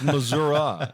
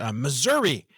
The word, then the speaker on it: Missouri: and I are right we both say it's Missour and my my own uh overeducated dollar say Dad it's daughters say Dad it's Missouri and and they point out that it's a a short I at the end I'm like you know know it's been Missour for 61 years and it'll keep being Missour for me and Johnny ashro